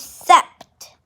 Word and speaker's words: sept: how it's spelled so seven is sept remember it's the short form of september sept and eight is not